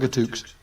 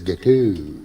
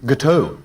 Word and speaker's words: gâteau: think you'll find it's gâteau. Gâteau? Yeah. Oh, I see, right. Yeah, the X is silent.